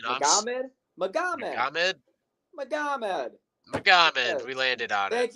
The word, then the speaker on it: Magomed: Magomed.